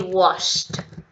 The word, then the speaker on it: washed: So, olha a pronúncia, gente. Washed. É tipo quando você tá com, sabe seu amigo Washington? Que ninguém chama ele de Washington. Você fala, cadê Washed? É isso, tá? It's like washed.